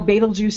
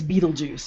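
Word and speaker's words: Betelgeuse: meeting you know there's well no baitul juice isn't really pronounced that way it's Beetlejuice you know yeah I heard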